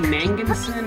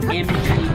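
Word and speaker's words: Magnussen: his human disguise, and then Billy Manginson, I think that's how you pronounce it. Not Billy Madison, to be confused with the Adam Sandler movie. It's like Mangussen.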